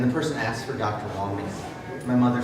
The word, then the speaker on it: Wambeam: It's actually pronounced Wambeam. I've heard it's Wambeam, Wham, I don't know.